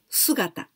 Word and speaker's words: 姿: But this kanji really meet withThe first one, this is called also, we can pronounce sugata, the first kanji.